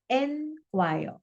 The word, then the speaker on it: enquire: अब जब जो ई वाला शब्द है एनक्वायर, उसका प्रोनाउंसिएशन है एनक्वायर।